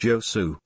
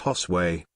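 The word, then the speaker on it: Josué: I just told you it was not pronounced Josu. It's pronounced Hosway.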